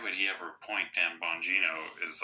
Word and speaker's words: Bongino: the beginning, why would he ever appoint Dan Bongino?